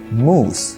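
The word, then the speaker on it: mousse: chocolate Carrel cheese cake এর পরের ওয়ার্ডটি হচ্ছে মুস যেটি হচ্ছে একটা ডেজার্ট অনেকেই ভুল করে এই ওয়ার্ড থেকে প্রোনাউন্স করে মুস অর মাউস কিন্তু এর একটাও কারেক্ট না দ্যা কারেক্ট প্রোনাউন্সিয়েশন হচ্ছে মুস আই হ্যাড চকলে with মুস for dessert the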